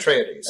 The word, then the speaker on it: Atreides: You have the forces of the House of Atreides, do you pronounce it? Atreides.